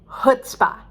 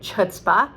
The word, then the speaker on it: chutzpah: put spa guts uh it looks like chutzpah because it's got a c uh beginning c-h-u-t-z and if you have never heard the word you would definitely want to say chutzpah just like me the